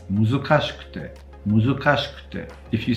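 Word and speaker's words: 難しくて: Muzukashi is fine, but it's not muzukashikute. It's muzukashikute.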